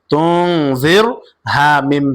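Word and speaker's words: تُنذِرْهُمْ: কারণ এই রয়ের উপরে আমরা দেখতে পাচ্ছি সাকিন, র সাকিন, তুং জির হুম, জির হুম।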